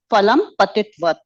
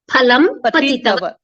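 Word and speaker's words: फलं पतितवत्: Phalam patati, phalam apatat, and phalam patitvat. Patitavat. Yeah. Patitavat. So you need to pronounce it as phalam patitavat.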